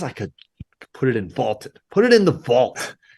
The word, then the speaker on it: VLTED: That is on the Vaulted app, VLTED, pronounced vaulted, a new sports prediction app that turns your opinions into facts.